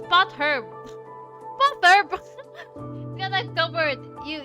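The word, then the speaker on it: potherb: It's not purb. It's pot herb.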